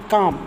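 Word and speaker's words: calm: brave brave मतलब बहादुर सी फॉर काम सी ए एल एम काम ठीक है इल साइलेंट होगा यहां पर काम काम मतलब शांत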